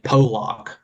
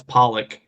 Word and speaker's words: Pollock: And then he came out on Twitter and said, my name is actually pronounced like Polak. I had no idea. Yes. Well, I'll be damned. All right. So this whole time we've been calling him Bryce Pollock.